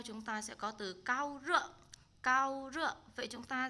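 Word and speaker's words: 高烧: Chúng ta sẽ đọc là cao rợ.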